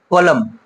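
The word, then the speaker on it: column: কলম, কি পড়ি আমরা এটা? কলম, এম এর পর এন আছে, বাট এনটা কি আছে এখানে? সাইলেন্টলি থেকে গেছে।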